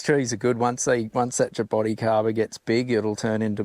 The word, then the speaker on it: jaboticaba: I said, pronounce that. Jaboticaba. Yeah, that's what I thought. Yeah. Yeah. Yeah. See, these trees are good. Once that Jaboticaba gets big, it'll turn into more of an emergent.